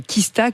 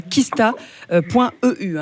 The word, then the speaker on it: Qista: Franchement, je vous rappelle que ça s'appelle Kista, Q-U-I-S-T-A.